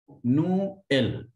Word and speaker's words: Noël: Example, Noël. Here, this E with tréma will be separated, which means Christmas.